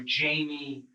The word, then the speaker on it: Jaime: The J in Jaime here is pronounced with an H sound, like it would Jaime. be pronounced in Spanish. But Michael and the detective pronounce Jaime with the J sound.